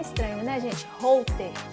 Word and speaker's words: Holter: Holter. É com H que escreve, alguns pacientes meus têm até dificuldade de pronunciar, Holter, parece um nome estrangeiro, né?